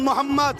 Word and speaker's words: মোহাম্মদ: আপনারা একবার উচ্চারণ করুন মোহাম্মদ সাল্লাল্লাহু খেয়াল করে দেখুন নবীর নাম নিলে দুই ঠোটে ঠোট ঠেকছে বলুন মোহাম্মদ আমার